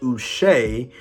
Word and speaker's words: Uche: I mean, they got a sack from, I believe it was, off the top of my head, Joshua, apparently it's pronounced Uche, who literally almost killed Aaron Rodgers, and then he went in and sacked him.